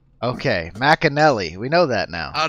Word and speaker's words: McInerney: for for pronunciation person is it mcanally is that the correct way to say it this McInerney Mack and Nellie all right okay Mack and Nellie we know that now